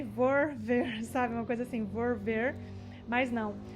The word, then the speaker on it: volver: L, volver, custa, então, aí é onde é mais fácil se você fala a pronúncia do B. Volver, talvez você erre menos falando volver do que volver.